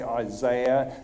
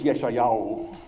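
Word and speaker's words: ישעיהו: I think you Americans say Isaiah, Australia they say Isaiah. And they're both wrong because in Hebrew it's Yeshayahu.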